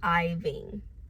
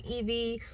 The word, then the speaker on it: Ivan: Texas that's Irving but my name is pronounced iing so please pronounce it right don't say Eevee don't say Ivy don't say Irving my name is Iving